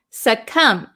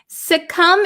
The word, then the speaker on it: succumb: let's see suum suum remember the silent B we don't pronounce it suum suum is a verb to